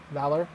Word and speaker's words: Valar: Valor is how he says it, but it's spelled Valar with V-A-L-A-R.